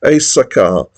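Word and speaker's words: éjszaka: The other track that I really liked, I'm a bit more secure on the pronunciation of this, Asaka, and that's because it's sung like that in the song, and that means night, I think.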